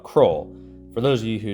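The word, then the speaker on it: Kroil: around and found out there's this stuff called crawl for those of you who don't live in South Arkansas cwl is spelled k r o i l o i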